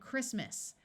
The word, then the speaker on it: Christmas: t is pronounced and Christmas notice that the CH takes its second sound of C in this word most words with a